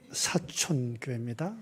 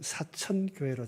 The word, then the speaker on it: 사촌교회: 아멘 반갑습니다 경남 사천 사촌교회입니다 저희 교회를 대부분 사천교회로 자꾸 이렇게 발음하시는 분이 많아서 제가 특별히 강조를 합니다 삼촌 다음에 사촌입니다 오늘 특별히 말씀은 여러분